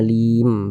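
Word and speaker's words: عليم: Huruf mim ini, jika kita membuat wakaf atasnya, kita membacanya sebagai 'alim'. Jangan dibaca sebagai 'alimi. Tidak.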